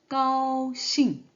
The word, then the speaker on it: 高兴: 그래서 잉으로 발음을 하면 되기 때문에 싱으로 발음하면 되는데 사성이죠. 그래서 싱, 싱, 싱. 네, 그래서 같이 결합되면 까오싱, 까오싱.